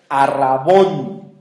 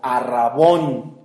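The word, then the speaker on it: ἀρραβών: viene del del griego arbón con b de burro y acento en la o arbón que significa parte del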